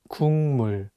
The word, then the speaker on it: 국물: But it's paired with the nasal sound 미음, so it changes the pronunciation from a G sound to an NG sound, and you need to read it as 국물.